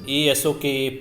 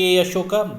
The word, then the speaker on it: Ashoka: can able to say pronounce this name as a Ashoka as well as Ashoka. This is the Prakrit word, Asoka, Asoka. And if it is Ashoka, Ashoka, then it is the Sanskrit word.